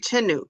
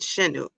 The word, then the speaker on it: Chinuk: Chinuk, not Shenuk.